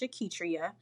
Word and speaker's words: Auketria: I am coach Aitria um on Instagram. And so, it's coach and then auk. I know that my name is pronounced and you know, it doesn't appear that a U would be there.